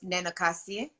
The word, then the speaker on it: Nenookaasi: Please, can you say your name for one and for everybody to hear so we know exactly how it's pronounced? Yeah, so it's Nenookaasi.